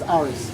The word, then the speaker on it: Aariz: Not Yaris, like your dad's car name is Yaris. Yaris. No, okay. It's Aariz.